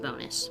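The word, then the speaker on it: Bounous: Um, I don't think it's pronounced that way traditionally. I think it's French. Um, so it might be like bonu. I don't speak French. I never took a French class, so I could be wrong, but I pronounce it bonus.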